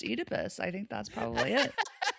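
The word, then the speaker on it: Oedipus: I think it was probably that it's pronounced Edypus.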